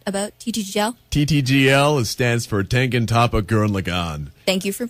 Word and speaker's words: Tengen Toppa Gurren Lagann: TTGL stands for Tengen Toppa Gurren Lagann. Thank you for pronouncing it properly.